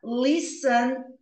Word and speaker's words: listen: Bak Pies tá or listen to music listen to music repare que esse T é mudo não ele ele é